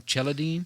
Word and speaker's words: Celadine: His name is Adam Cheladine. Yeah. But it's spelled Celadine.